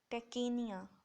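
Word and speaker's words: tachypnea: तेज़ हो रही है, टैकिपनिया, टैकीनिया, पी जो है वो साइलेंट होता है, टैकिपनिया ये होता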